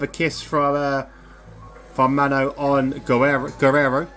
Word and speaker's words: Guerrero: kiss from Mano on Guerrero, which is, I believe, how you pronounce his name, is Warriors.